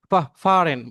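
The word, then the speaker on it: fahren: আরেকটা ওয়ার্ড সেটা হচ্ছে ফাহারেন, ফার, ফারেন মানে ভ্রমণ ফারেন, করা, মানে বা ইয়াতে চলা আর কি। ড্রাইভ করা ভাইয়া, ড্রাইভ করা, হ্যাঁ। ড্রাইভ করা, গাড়ি ঘোড়াতে চড়ে আর কি যাওয়া। হ্যাঁ। ফারেন, বা হুম।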